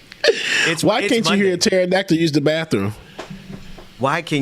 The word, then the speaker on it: pterodactyl: what is it james because the p is silent you know i was